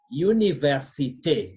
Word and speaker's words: université: So, and again, please note, when letter R appears between two letters in French, that letter must be pronounced. So we say université.